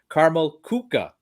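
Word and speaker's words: Karamell-Küche: when i'm there but i've been corrected uh a numerous times that the correct prince in the pronunciation of that establishment is carmel kuka oh yeah i i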